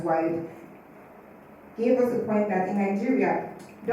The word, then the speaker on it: WID: Secondly, WID, pronounced as WIDE, gave us a point that in Nigeria, double the number of women to men have less than 4 years education.